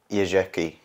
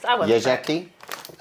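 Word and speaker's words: Jeżyki: Yezheki. Oh, I was close. Yezheki. Because the Z with the dot on top makes it more of a zh sound.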